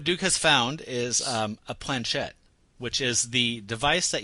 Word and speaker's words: planchette: It's like Kate Blanchett.